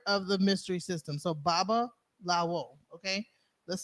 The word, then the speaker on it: Babalawo: So Babalawo.